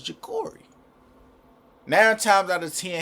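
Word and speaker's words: Jacorey: saying jackary bro like j a c o r e y I say jakori I'm black F so I I'd be like jakori yo jakori that sound like like that sound like the proper way to say bro name that's why I keep that's why I keep calling him bro cuz bro keep saying jackary like bro his name not jackary bro it's jakori now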